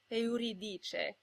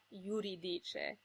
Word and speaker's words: Euridice: And the heroine of Gluck's most famous opera is Euridice, not Euridice.